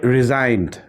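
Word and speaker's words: resigned: পরে এন আছে সো এখানে জি টা কিন্তু সাইলেন্ট হয়ে গেছে ক্যাম্পেইন এরপরে রিজাইনড রিজাইনড এখানে দেখো জি এর পরে কিন্তু এন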